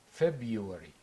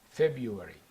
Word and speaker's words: February: January the second is February February we say it this way February although it's certain February but the r is not clear in British English so we say February